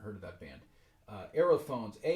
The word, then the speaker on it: aerophones: of that band uh aerophones a e r o p h o n e s this just phonetically sounds like the word air and so that this